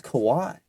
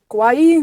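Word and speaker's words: Kauaʻi: Dang, I thought it was Kawaii. Kauaii.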